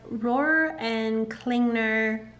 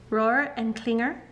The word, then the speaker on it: Rohrer & Klingner: next up we have Roar and klingner Clinger Roar and Klinger I think that's how you say it alt Bordeaux um this